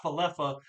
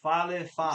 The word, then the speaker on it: Falefa: It's not Falefa. Those quit talking like it's a falafel, right? This is Falefa, So insane.